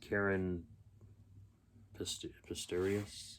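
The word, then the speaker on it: Caren Pistorius: Karen Pistorius, that's how you say her name.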